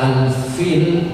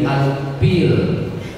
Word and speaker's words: Al-Fil: Surat Al-Fil jadi Al-Pil. Karena dia tidak bisa bilang huruf fa. Fa jadi pa, F jadi F. Al-Fil, Al-Pil.